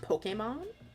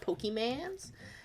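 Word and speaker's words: Pokémon: just go I'm actually it's pronounced Pokemon not pokemans yeah my mom was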